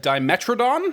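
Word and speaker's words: Dimetrodon: For now, we'll move on to the next one, the Dimetradon, I believe it's pronounced.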